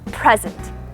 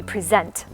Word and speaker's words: present: So if I were to accentuate the first syllable, it would be present. And that is one meaning, right? I give you a present. Give me a present. Give him or her a present. If I accentuated the second syllable, it would be present. So it changes the word from a noun to a verb.